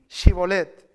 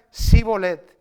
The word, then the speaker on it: Shibolet: Le decían, "Ahora pues di Shibolet, que era una palabra clave." Y él decía, si era de Efraín, decía si bolet porque no podía pronunciar correctamente.